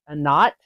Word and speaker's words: Anat: Okay, next line, we have Amorite or Egyptian is Anat, is the way that I was told it's pronounced.